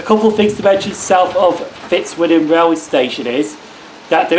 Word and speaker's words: Fitzwilliam: to Fitzwilliam so this is Fitzwilliam rally station yes I've said it right this time not Fritz William now in the previous